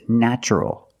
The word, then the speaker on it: natural: vowel an a also in this pattern the t is pronounced with the CH sound so the word is natural but first let's focus